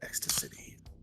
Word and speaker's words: Ecstacity: Well, it's like ecstasy. Like it's an X city. No, it's like ecstasy, but city at the end.